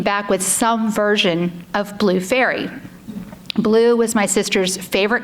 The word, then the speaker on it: Faery: Every single person came back with some version of Blue Faery.